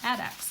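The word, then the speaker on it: addax: a Dr Seuss character adx adex I guess I could read the pronunciation on there a nope add no yeah add X add X I pronounced it correctly the first time add X that's an adx it's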